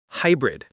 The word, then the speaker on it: hybrid: Hybrid. Stress on high.